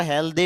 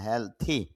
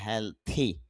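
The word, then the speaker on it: healthy: হেলথি, যদি আমরা হেলদি বলি, দি না, হেলথি কেন, এই যে আইপিএতে দেখতে পাচ্ছি থ সাউন্ড, মানে হেলথি।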